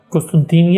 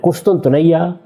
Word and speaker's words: قسطنطنیہ: قسطنطینیہ یعنی استنبول. قسطنطنیہ, قسطنطینیہ, یہ اس کے مختلف تلفظ ہیں جو ہمارے ہاں رائج ہے تلفظ.